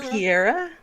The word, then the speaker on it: Vampira: And am I pronouncing it correctly, or is it Vampira? Vampira. Vampira. That is how it's spelled. So Piera. Right. Mm-hmm. Piera, exactly. Yes.